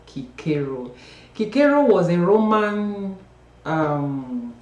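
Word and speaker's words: Cicero: Kiko of yeah um some people Sayo c i r o no it's pronounced Kiko Kiko was a Roman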